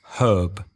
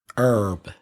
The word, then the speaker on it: herb: So the Americans do not pronounce the H at the front of herb, where British English speakers do. They say herb. And in American, herb.